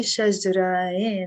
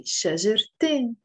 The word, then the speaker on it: شجرتين: It has a ت مربوطة that we don't pronounce, شجرة. But when I want to add the N, which makes it dual, two trees, we have to pronounce the T. We can't say شجرين, right? That would be wrong. So we have to say شجرتين.